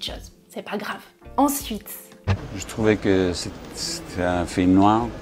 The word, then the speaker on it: je trouvais: Je ne prononce pas je trouvais avec le son j, je prononce je trouvais avec le son ch de chocolat.